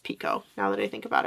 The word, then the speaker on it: Picoult: Jodi Picoult? I feel like I read somewhere that it's actually pronounced Pico, now that I think about it.